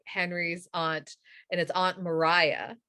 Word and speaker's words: Maria: i know about henry's aunt and his aunt mariah right you expelled maria but it's pronounced mariah um when he was arrested and put into